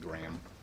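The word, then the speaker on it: Grayum: it's a and the last name is g-r-a-y-u-m but you just pronounce it graham and yeah that's that's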